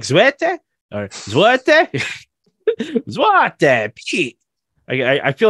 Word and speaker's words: Zwarte: this a French thing it is not a French steak it is you're saying it yeah yeah but it's a it's a it's more like zwete I I feel like